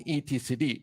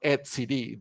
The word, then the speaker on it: etcd: cluster is being stored in etcd or at CD depends on the people that is pronouncing this okay this is a